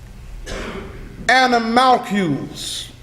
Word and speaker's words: animalcule: And other inferior creatures besides animalcules. An animalcule is what we call a microscopic creature. It's spelled A-N-I-M-A-C-U-L-E.